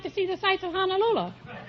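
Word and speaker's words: Honolulu: see the sights of honol Lula they pronounced it honol Lula over there when I was there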